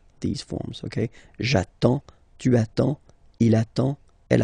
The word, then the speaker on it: attends: So the first form will be j'attends, j'attends, okay? You get D and S, well, basically you don't pronounce them, okay? And then you get only the sound attends, nasal here, en, j'attends, okay?